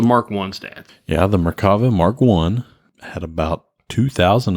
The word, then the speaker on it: Merkava: Merkava.